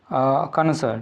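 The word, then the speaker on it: connoisseur: वो आता है आपका कॉनसर, ठीक है ना, कॉनसर बोलते हैं, कॉनसर भी बोलते हैं इसको प्रोनाउंसिएशन में।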